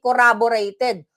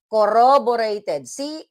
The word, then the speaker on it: corroborated: Hindi corroborated. Corroborated.